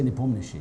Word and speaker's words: Nepomniachtchi: In Russian we say Nepomniachtchi, yes.